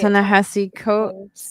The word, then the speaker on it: Ta-Nehisi Coates: Dance or whatever with the Oh yeah, yeah, Ta-Nehisi Coates.